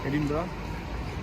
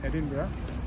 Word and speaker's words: Edinburgh: so this is like the the center of Edinburgh uh so before that we are in the City of Edinburgh or Edinburgh this is the capital of Scotland and it's not pronounced as Edinburg it's Edinburgh so now uh so there is the Edinburgh